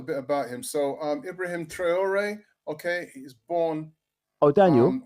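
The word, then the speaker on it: Ibrahim Traoré: His French pronunciation is um Ibrahim Trayor and um Trayor um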